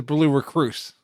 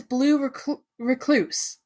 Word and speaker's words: Blue Recluse: did not realize it it's blue recluse right yes okay like the spider it's only a pub